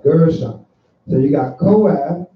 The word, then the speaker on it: Gershon: I don't think you say the name right. Not saying the name right. It almost sounds like the right name, but you ain't saying it right. Gershon, right? Gershon.